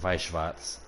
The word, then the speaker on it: Schwarz: so hold up so basically wartz or if we want to get in specifics the actual pronunciation vwats it's an anime TCG